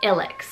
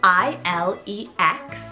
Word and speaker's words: Ilex: But that is the name Ilex. So spelled I-L-E-X. It's actually pronounced Ilex, but I like Ilex.